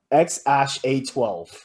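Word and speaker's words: X Æ A-12: but the baby's name is actually pronounced x-ash a-12 that's so stupid x-ash a12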